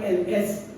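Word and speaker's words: elles: they masculine is I LS pronounced as ill only and and plural of L is e l l e s pronounced as L only for she right and that's it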